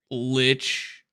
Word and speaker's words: Lich: This is Lich rhymes with bitch, and bitch is a bad word.